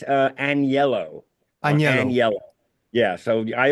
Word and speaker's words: Agnello: um yeah it's uh anello and yellow yeah so I always spell it for people to pronounce it a an and then the word yellow you know what I